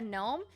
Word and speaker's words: gnome: I actually have one of these cursed shirts, and it's a picture of a gnome, and it says, you don't know me, but no is spelt like with a silent G.